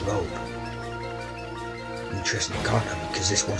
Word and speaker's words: Raab: It's pronounced Raab.